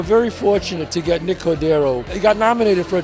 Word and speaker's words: Cordero: Cordero.